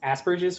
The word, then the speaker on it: Asperger's: asperger's right and um i love the way you pronounce it too it's like asperges which is so much better than the american pronunciation of asperger's like come on but yeah exactly i was like oh yeah it sounds like asparagus it's much more relatable